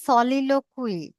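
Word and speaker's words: soliloquy: তারপরে দেখেন সলিলোকুই। সলিলোক কুই এটার উচ্চারণ হচ্ছে সলিলোকি।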